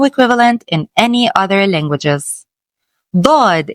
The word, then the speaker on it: ض: Bod is a deep strong duh sound different from the regular du as in dog. It is pronounced with a lot of tongue pressure and is unique to Arabic.